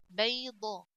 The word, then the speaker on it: بيضة: با فتحة يا ساكنة بي. ضاد فتحة ضا بيضة. تا ضمتان تن بيضة بيضة.